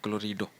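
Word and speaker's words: chlorido: तो क्लोराइड को यदि मैं लिखूं अंग्रेजी में तो सी एच एल ओ आर आई डी ई तो इस ई को हटा के इसका नाम रखा गया है क्लोरीडो देखिए सी एच एल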